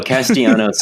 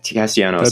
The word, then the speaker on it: Castellanos: No, Castellanos is the guy who that's a drive deep into left field.